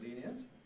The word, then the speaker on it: lenient: word today but equally we can say it as a two-syllable word leave it leaving it and it's not really sensible to ask which is correct both are correct on the whole it